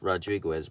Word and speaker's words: Rodriquez: His name is Mike Rodriquez, something like that, pronounced Rodriguez, but instead of a D, there's a Q, U-E-Z, like Quez.